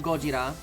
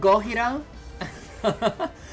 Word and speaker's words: Gojira: Now, technically in Spanish, you would pronounce it Gojira. So, but I didn't know I was gonna play it in a Spanish playthrough. But let's go with the Japanese pronunciation, which is Gojira.